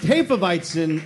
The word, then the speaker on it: Hefeweizen: Pronounced Hefeweizen, it means literally yeast wheat.